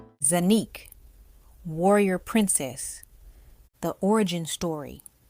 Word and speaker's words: Xanyic: Zanique. Zanique like unique but not Matus.